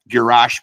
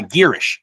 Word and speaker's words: Girish: Uh, uh, Gash Pradan, who we who we I might be saying that name wrong, and I apologize if I am. Uh, I think, uh, Girish, Girish is how, uh, Joel pronounced it.